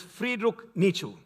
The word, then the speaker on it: Friedrich Nietzsche: This is by so it's pronounced as Friedrich Nietzsche.